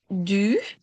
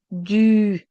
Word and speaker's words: du: Du. Okay. And we will, of course, work with the pronunciation. And now you can hear it because I say du. And it's a difficult sound.